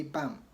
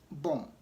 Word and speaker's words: bomb: And I've already said that when B comes after M, the B is silent in bomb. In American they say bam. In British bomb.